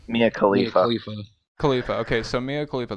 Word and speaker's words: Khalifa: Mia, how do you pronounce her last name? Mia Khalifa.